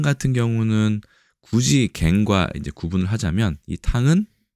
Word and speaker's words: 羹: 구성 요소로 많이 사용됩니다 우리나라는 갱 장음이고 1급에 해당되고 중국에서는 끙이라고 발음합니다 간체 번체 차이가